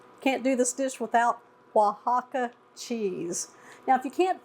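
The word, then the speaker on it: Oaxaca: use those also but it's definitely pronounced way different than what it says right I'm going to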